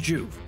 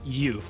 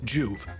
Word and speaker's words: Joov: but it is pronounced juve one syllable nice and easy like to be concise